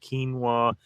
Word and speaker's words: quinoa: about that cuz quinoa it's spelled quinoa is the way it looks like it's spelled but it's pronounced quinoa supposedly a super grain